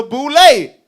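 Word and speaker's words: Boulé: freemasons which included dr henry min formed the boulet which ended up forming these black fraternities right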